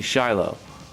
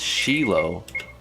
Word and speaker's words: Shiloh: i just knew immediately that's supposed to be shiloh who says who in the frick says sheila it happens a lot